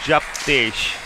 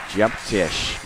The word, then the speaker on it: Jeptesh: Just in case he listens back to this on YouTube, how would you teach him to say your name again, the correct pronunciation? It will be Jeptesh. Jeptesh.